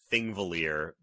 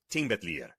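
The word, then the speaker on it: Þingvellir: just looking at it you would think it's thing valer which is the name of a national park in Iceland the thing is was the National Assembly and uh the way they would pronounce that Park in Iceland was Ting and so the Double L has a TL sound so this I believe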